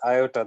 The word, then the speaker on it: iota: We used to pronounced as iota. This is iota, not I.